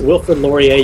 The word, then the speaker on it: Wilfrid Laurier: me I I Mison I've been mispronouncing Wilford laier which is a French name so it's Wilford laier University versus versus University of